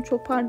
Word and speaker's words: Chopper: yu yaptım Bir de Chopper yaptım nasıl okunduğu tam Çopar diye de okunuyor olabilir bu da telefon çağırı aşırı